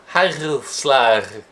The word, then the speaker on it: Hagelslag: Hagelslag. That's my more Dutch pronunciation of it.